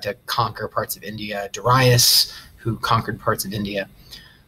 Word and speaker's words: Darius: In 512 BCE, a Persian emperor named Darius the Great, yes, his name is pronounced Darius, and that might sound pretentious, but that's how you're supposed to say it.